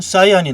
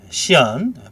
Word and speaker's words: 시안: 그린과 레드가 합쳐지면 옐로우가 나오고 그린과 블루가 합쳐지면 사이안이 나오게 되죠. 시안, 발음이 좀 죄송합니다. 사이안으로 입에 익숙해지다 보니까 계속 시안을 사이안으로 얘기합니다. 앞으로도 사이안으로 하겠습니다. 잘못된 발음이에요. 시안입니다. 원래는.